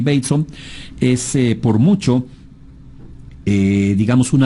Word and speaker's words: Bateson: Gregory Bateson, se escribe Bateson, pero es Gregory Bateson.